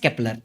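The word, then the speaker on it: Kepler: चलिए फिर आते हैं हमारे योहानेस केपलर। वैसे स्पेलिंग में जे है लेकिन प्रोनाउंसिएशन इसका योहानेस केपलर ऐसे ऐसे होता है, ठीक है।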